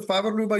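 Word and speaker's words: Favre-Leuba: Favor Luba, you pronounced it perfectly.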